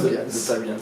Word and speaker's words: Tolbians: le S ouais on a plusieurs ça se prononce comment tolbians Tol tolbians ouais voilà c'est classe comme nom ça vient